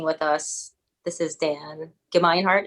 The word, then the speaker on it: Gemeinhart: us this is dan give me heart am i saying it right that's perfectly right exactly yes we talked